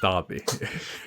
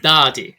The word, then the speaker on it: Dadi: As long as the A is a long A, then I'm mostly happy about it. My name is Dadi. Dadi.